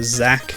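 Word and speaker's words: Xak: It looks like their big claim to fame is the Zack series of action RPGs. Or action, what are they? Action adventure? It's spelled X-A-K.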